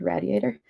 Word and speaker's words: Radiator: Um, it just came out in October from Radiator Press, which is how um it is pronounced in Philadelphia. Radiator.